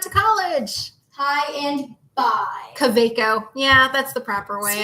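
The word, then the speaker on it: Kaweco: Caveco.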